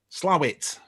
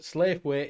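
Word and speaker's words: Slaithwaite: new shop done it it's slave weights are pronounced slower points slam it slightly if you're from around yorkshire slave way if you're not yeah yeah yeah yeah not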